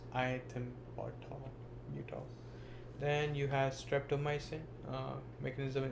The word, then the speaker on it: ethambutol: Pronounced iethambutol.